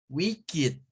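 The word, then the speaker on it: wicked: que esos son adjetivos Entonces todos los vamos a pronunciar como it O sea que ese va a sonar como blasit learnid wikidet it aquí se viene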